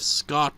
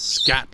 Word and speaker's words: SCART: Same with SCART leads. I think that's how they're pronounced. For whatever reason, my dad keeps pronouncing it as scat leads, so I'm just like, what?